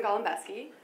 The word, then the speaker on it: Golembiewski: I'm Golembiewski. Thank you for pronouncing it like the real Polish way, because my family doesn't even do that.